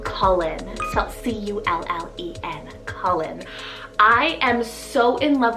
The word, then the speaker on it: Cullen: here i have the name cullen cell c-u-l-l-e-n colin i am so in love with this name